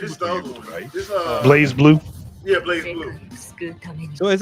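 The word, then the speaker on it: BlazBlue: No, it's Just because like the E ain't there don't mean you don't pronounce it right.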